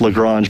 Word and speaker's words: Lagrange: you're from it could be a different different pronunciation you know daryl reminds me all the time it's lagrange but if you're from the south it's probably